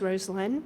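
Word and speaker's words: Rosalynn: Carter and first lady rosn Carter I'll say her name is rosin everyone mispronounces it and I think now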